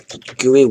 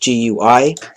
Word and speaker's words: GUI: can draw the text goey width equals display get get goey width guey is also pronounced um I pronounce it goey but sometimes pronounce as GUI I goey because I just like saying it it's all up to